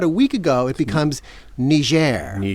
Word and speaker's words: Niger: 20 years old and sure enough the pronunciation there was Niger now the people who live in Niger are apparently Ngerians, okay, not Nigerians. So maybe that's where this nger has come from.